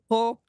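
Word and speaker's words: Preaux: Actual French, it's Ensign Lex A. Pro.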